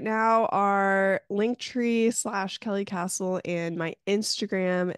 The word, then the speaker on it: Kasle: are link tree Kelly castle and my Instagram it's kka l e yeah last name is spelled funny but it's it's pronounced Castle a and my last